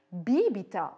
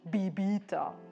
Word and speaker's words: bibita: Getränke, bibita und nicht bibita.